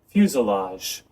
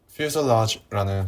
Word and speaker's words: fuselage: 그리고 퓨selage, 이 동체, 항공기의 몸체 부분을 퓨selage라고 하는데, 이것도 발음이 좀 헷갈리죠? 그래서 한번 들어보고 갈게요. fuselage, fuselage, fuselage, fuselage, 네, fuselage라는 발음으로 해주시면 좋을 것 같습니다.